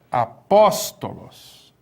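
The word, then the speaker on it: ἀπόστολος: Apóstolos. Apóstolos. Onde que está o acento? Está aqui, ó.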